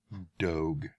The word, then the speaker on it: Doge: And looking it up, apparently it is pronounced Doge. I still want to pronounce it Doge, just because that's what it looks like to me.